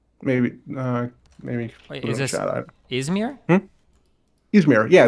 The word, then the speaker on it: Izmir: Yeah, that's the way I pronounce it in English because but a Turkish speaker is not going to pronounce it that way, and you shouldn't go out of your way to like try to say it. How would a Turkish speaker pronounce it? Izmir. So if you could say it that way, why not just say it that way?